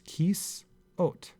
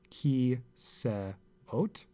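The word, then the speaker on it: כסאות: so this is a word for chairs and it's Keese oat it's not ki say oat this is not pronounced it's a closed syllable and he's out similarly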